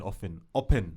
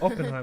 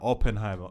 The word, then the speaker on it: Oppenheimer: I'm saying Oppen. Is it Oppenheimer? That's how you say it. Yeah, Oppenheimer.